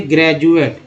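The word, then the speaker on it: graduate: अब डी को ड तो बोलते हैं, ज भी बोलते हैं। जैसे ग्रेजुएट, जी आर ए डी यू ए टी ई, ग्रेजुएट में डी को ज बोलते हैं।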